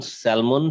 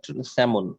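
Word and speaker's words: salmon: Tree root stop dash অ্যালং স্যালমন stream, স্যালমন না, স্যামন, স্যামন, sorry, এল উচ্চারণ হয় না।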